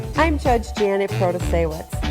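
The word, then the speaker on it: Protasiewicz: judge Janet in Wisconsin protestowitz no that's not right proto-sawitz bro to say wits and here's a video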